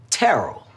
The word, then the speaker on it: Terrell: Terrell.